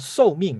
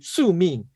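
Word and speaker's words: 宿命: get rid of what we call, it's called so ming, right? It's pronounced so ming, right? So ming. I think it's pronounced so ming. Let me see what it's called. It's pronounced su ming.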